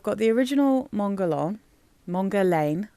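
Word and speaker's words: Mon Guerlain: the original Mongol along mongar Lan I always say mongon because it Rhymes but I don't think that's how you're supposed to say that word at all so mongar Lan mongan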